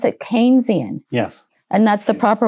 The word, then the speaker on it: Keynesian: So you you pronounce it Keynesian. Yes. And that's the proper way not kynisian I think I think his name was Keynes and I think they pronounced it.